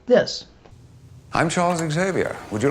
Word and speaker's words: Xavier: real world and it's pronounced like any other word in the English language that starts with X like xylophone xenophobe circ sees Xena Warrior Princess that is to say it's pronounced Xavier which means it's kind